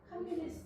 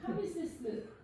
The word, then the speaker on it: 캄비세스: 캄비네스 이세? 예, 발음이 정확지 않습니다. 캄비네스. 캄비세스.